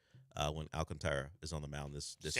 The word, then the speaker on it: Alcantara: There are multiple ways to pronounce it now. I've always just stuck with Alcantara because sometimes I don't want to roll an R or mess with the back half of his last name, but I've heard it said different ways now.